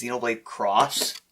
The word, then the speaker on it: Xenoblade X: It's kind of like how Xenoblade X is Xenoblade Cross.